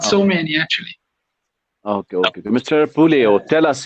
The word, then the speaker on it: Puleo: Sandro Puleo. Am I right now? Music. Am I pronouncing your name correct? It's Puleo. Puleo. No, Puleo.